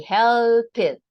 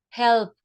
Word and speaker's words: helped: we have you see helped you have to pronounce the the consonant of the original verb plus the T helped looked sniffed laughed